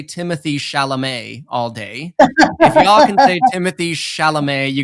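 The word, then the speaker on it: Timothée Chalamet: and he was like look I gotta say Timothy sha'lame all day Timothy sha'lame you got you guys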